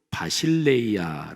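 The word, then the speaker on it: βασιλεία: 번째 단어 하나님 나라 헬라어로 바 실내 이야 라고 발음합니다 바실 a 않은 주권적인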